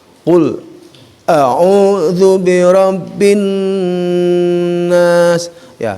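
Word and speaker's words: قل: Ya, itu yang harus dipegang, dan mudah-mudahan ya acuan dari ayat 1 yang pertama ya tadi pengucapan ko, jangan sampai ku. Qul a'udzu birabbin nas.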